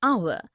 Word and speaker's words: hour: air an honest an hour because the words air honest and our begin with the vowel sound as the initial consonant h is not pronounced article 1 we use